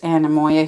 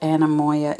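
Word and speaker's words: anemoia: publishers newsprint oh i love that ledger ruled ledger oh wow i'm going through some serious animoya here folks if you're wondering what anamoya is look it up it's spelled a n e m o i a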